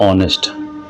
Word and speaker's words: honest: देखिए बच्चों यहां पर ऑनेस्ट यहां पर आप देखिए आप कहेंगे सर एच है पहले लिख एच हमारा क्या है? साइलेंट है। तो एच का उच्चारण नहीं होगा। ऑनेस्ट पढ़ेंगे और इसका मतलब होता है ईमानदार।